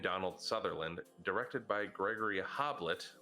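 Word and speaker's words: Hoblit: Sutherland directed by Gregory hob late' which sounds like a tiny Hobbit like a babe like a baby Hobbit this is because this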